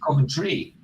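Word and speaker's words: Coventry: when I say centry I don't pronounce the T like I say centry I say it's not cry it's centry says I know what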